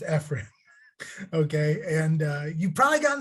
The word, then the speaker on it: FRIB: I know it looks like Frib. It's pronounced Frib.